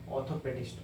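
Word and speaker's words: orthopaedist: ओ पी ए ई डी आई एस टी ऑर्थोपेडिस्ट ऑर्थोपेडिस्ट ऑर्थोपेडिस्ट प्रशन देख रहे हैं ना आपको हल्का लाइट साइलेंट करके बोल र है ऑर्थोपेडिस्ट ऑर्थोपेडिस्ट का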